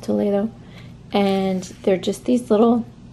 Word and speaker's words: Toledo: are from Toledo Spain spelled Toledo just like Ohio but pronounced Toledo and they're just these